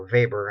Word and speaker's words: Weber: whoever there is a German right so they pronounce there w is a little differently there Weber Alfred Weber gives a German economist least-cost theory